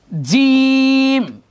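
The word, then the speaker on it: ج: জিম কিন্তু শক্ত হবে। এই যে আমরা পড়ি না আউযু বিল্লাহি মিনাশ শাইতানির রাজিম, রাজিম শক্ত। রাজিম যদি কেউ পড়ি সেটাও ভুল উচ্চারণ, জিমকে জিমের উচ্চারণটাই করতে হবে।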